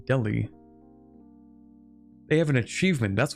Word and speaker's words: Delhi: Not Deli, Delhi.